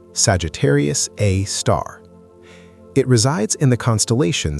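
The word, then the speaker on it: Sagittarius A*: Scientists have given it a name Sagittarius A or S G A R A for short pronounced Sagittarius A star.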